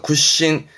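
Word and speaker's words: 屈伸: 발음 그래서 굿신, 굴신이 뭘까요?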